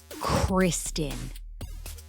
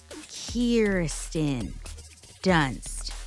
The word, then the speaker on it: Kirsten Dunst: It is not Kirsten or Kristen dunsted. It is Kieren dunsted. Kirsten. Say it with me. Kirsten Dunst. You hear me? It's Kirsten Dun. Not Kirsten. Not Kristen.